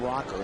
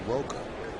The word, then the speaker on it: Roker: clarification on terrence's name it's not rocker it's Roker roer pronounced roer Roker that's all right T